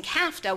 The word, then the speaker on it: CAFTA: because we are facing CAFTA which rhymes with nafta which gives you a